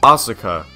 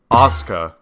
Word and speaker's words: Osuka: fourth place we have osuka nope apparently the u is silent we have oscar yep just like with